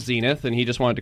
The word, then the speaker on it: Xenith: how did you find the name Zenith with an X they spell it with